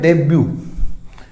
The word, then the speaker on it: debut: इसी तरह एक और वर्ड है DEBUT, तो ये इसमें भी T साइलेंट होता है, T इसमें साइलेंट रहेगा, तो ये होता है डेब्यू।